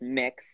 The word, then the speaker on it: Mx: is that yes pronounced mix as in mixed like a cake okay okay like am